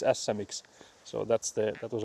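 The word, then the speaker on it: Ässä-Mix: actually in Finnish it's asamix. So, that's the that was a word you were having trouble pronouncing. It's asa. So again, you have to have both both of the s letters there.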